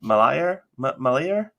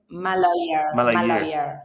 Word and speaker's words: Malayer: You, and if I get the pronunciation of this wrong, do immediately correct me, but you earned a degree in engineering from the Malaya University? Malayer. Third time's a charm. Malayer is my home.